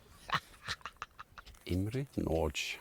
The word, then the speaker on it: Imre Nagy: want to know I will still tell you IM NCH you didn't expect that I would pronounce his name right know good that I